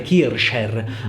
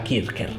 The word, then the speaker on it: Kircher: universalis di atanasi kirker in realtà si dovrebbe pronunciare kircher Ma in Italia spesso si pronuncia kirker Comunque questo tizio aveva